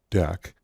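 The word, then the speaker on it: deque: double-ended q and so it's spelled like that but it's typically pronounced deck go ahead and clean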